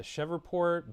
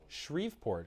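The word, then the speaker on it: Shreveport: In his request, Landry said there have has been elevated crime rates in uh, Chevport, Baton Rouge, and New Orleans, as well as shortages in I'm sorry, what's the pronunciation? Shriveport, excuse me.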